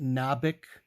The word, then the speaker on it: Nabik: do is I write my name which is pronounced nabik not or anything like that it's not Bick so it's uh it's